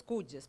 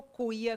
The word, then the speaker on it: cuya: Cuyo, cuya, cujos, cujas. Parece cuia, né? Mas a pronúncia varia. Eu opto por falar cuyo, cuya, cujos, cujas. Tem outras pessoas que falam cujo, cuja, cujos, cujas.